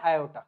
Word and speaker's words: aorta: तरफ लेके जाता है, इसको हम बोलते हैं आयोटा। क्या बोलते हैं हम इसको? आयोटा, या फिर बहुत सारे लोग इसको ऑर्टा भी बोलते हैं। इसकी स्पेलिंग होती है ये AORTA, ऑर्टा। ये क्या है?